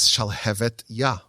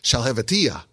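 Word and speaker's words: שלהבת יה: The name of the book is Shalhevet Yah, which means the flame of God. And everyone would mispronounce it as Shalhevetiyah, which means nothing, which is just gibberish.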